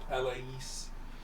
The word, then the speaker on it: Palais: It's pronounced Palais.